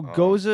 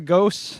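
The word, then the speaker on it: gose: it's like borderline tart so goza is actual style yes a lot of people mispronounce it um a lot of people just can I have the ghosts yeah can I have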